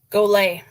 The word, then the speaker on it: Golet: do you pronounce it goolay go so a French type pronunciation USS go if you're